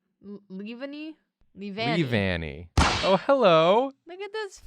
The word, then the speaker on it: Leavanny: I'm gonna pronounce this wrong, Yeah. but Yeah. this Pokemon I have for you is Levani. Levani? Leavanny.